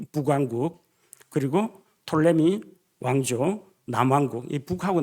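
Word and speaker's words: Ptolemy: 있었고 남쪽으로는 이집트를 차지한 톨레미 톨레미라고 하는데 피자는 원래 발음 안 합니다. 아 우리가 사이로지라고 하지 프사이칼로지라고 하지 않는 것처럼 톨레미 왕과 이집트 쪽을 차지하게 됩니다.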